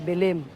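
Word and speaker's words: Belém: so swerte niyo mga bilin kasi may ginawa pala kayo dito na building joke ang tamang pronunciation pala bilim ho bilin Nasaan si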